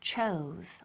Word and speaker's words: chose: And the verb in past is chose. Okay, repeat. Chose. Again, chose. Eso es muy bien. So that O, esa O, it sounds like O, U. Okay, so chose.